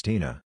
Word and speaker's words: Tina: nameplate and ask me how do you pronounce that it's tina i have tried politely